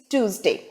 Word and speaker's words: Tuesday: tuesday but it is tuesday day is pronounced as day and not day it is day so the correct pronunciation is tuesday with the stress on the first syllable two so this generally